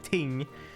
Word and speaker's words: ting: It's supposed to be ting, which by the way is spelled just T-I-N-G, so that's not even the thing.